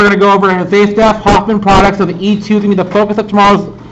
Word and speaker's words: Zaitsev: They're actually writing his name out phonetically. This is how his name was actually spelled. It's Zaitsev, but pronounces Z with an S.